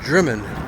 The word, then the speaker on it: Drymen: Looks like it's spelled Drymen, but they it's pronounced Dri.